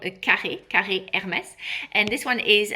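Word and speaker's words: carré: An scarf is called a kar Hermes.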